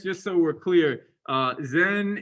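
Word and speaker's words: 禅: so we're clear uh zen is the japanese pronunciation of a chinese character uh in chinese it's called chan in korean i think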